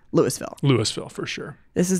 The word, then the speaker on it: Louisville: pretty quickly corrected which is how do you pronounce Lewisville Louisville for sure this is not Louisville that's